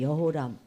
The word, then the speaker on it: 여호람: 일찍 죽고 그 동생 여호람 요람이라고 부르기도 해요이 히브리어가 자음만 있고 모음이 없기 때문에 이렇게 읽을 수도 있고 저렇게 읽을 수도 있는데 지금까지는 여호람이 나왔던 자 그다음부터는 요람이라고 읽었거든요 요람 그리고 아달랴는 딸이에요 딸